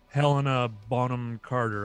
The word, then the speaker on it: Helena Bonham Carter: if you shall, because now all he uses Helena Bonham Carter.